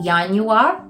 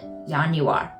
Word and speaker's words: Januar: you would in German because in German the J makes a y sound so Yan you are and you're good Yan you are then you have February